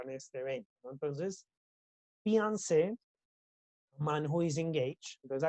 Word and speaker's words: fiancé: Fiancé, the man who is engaged, prometido, fiancé, prometida, ¿listo? Entonces ahí la pronunciación es igual, solo el contexto me dice si estoy hablando de una mujer o de un hombre, ¿ok?